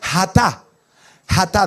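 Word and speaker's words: חטא: griego la primera es se escribe así como está ahí pero se pronuncia hata de la de la glotis no no me alcanza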